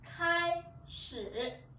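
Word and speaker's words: 开始: Từ này chúng ta đọc là khai sử.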